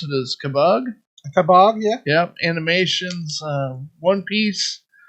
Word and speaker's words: Kabag: Okay, well, this week we unboxed, I believe I heard you pronounce it as Kabag. Kabag, yeah.